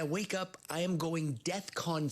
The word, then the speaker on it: DEFCON: not the point but that's not how you say it nah I know it's not the main issue here I know that but it's Defcon 3. we're learning three a Defcon sounds like like a trade show where they unveil